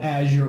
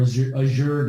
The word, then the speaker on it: Azure: vendors Amazon uh Microsoft which is called Azure or Azure depending upon how you pronounce it yeah that's that's